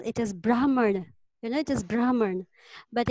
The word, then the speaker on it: Brahman: leader in India we we actually pronounce the H as well it is Brahmin and it is Brahmin but in English we say Bremen yes Rama what's happening